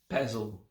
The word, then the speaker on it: pezl: or to write lasika that was i will spell it l-a-s-i-k-a and the other word puzzle p e z l just that four letters